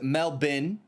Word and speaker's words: Melbourne: uh Americans did God Melbourne is melbin Bros blue you got